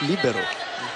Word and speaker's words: libero: in for en libero internationally It's pronounced libero mhm ba yeah yeah